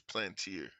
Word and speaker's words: Palantir: It's Plantier. Plantier. Okay, Plantier. Yeah, Plantier. You know what I mean? So that's not, a lot of people don't pronounce it that way. A lot of people pronounce it Palantir.